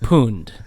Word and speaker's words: Pound: It's actually Dick Poond, so you're saying it wrong, Americans.